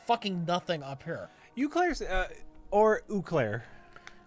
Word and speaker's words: Eau Claire: That's pronounced right? Eau Claire?